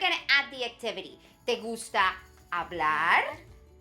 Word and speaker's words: hablar: si si me gusta hablar me gusta hablar muchisimo good and did you notice that the h is silent it's just there so we write it but we don't say it so we say ah